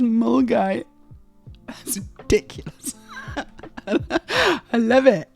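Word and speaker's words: Milngavie: Okay, it's not Milngavy. It's pronounced Mulgai. No. Mulgai. That's ridiculous. Mulgai. Milngavy is pronounced Mulgai.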